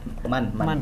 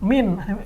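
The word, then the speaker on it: مَن: Bacanya min, ini bukan min, man ini.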